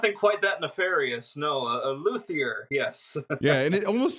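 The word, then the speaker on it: luthier: this as well professionally you are a a luier is that how am I saying that right luier absolutely you know people will ask me you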